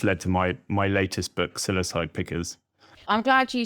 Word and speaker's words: Psilocybe: which is what's led to my latest book, Psilocybe Pickers. I'm glad you said that. So I pronounce it psilocybe, but I'm assuming your pronunciation is the best one.